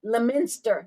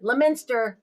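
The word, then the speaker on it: Leominster: It is um Leo Lminster Lminster Mass is where he is from. I got schooled on how to pronounce it. So Lminster Mass.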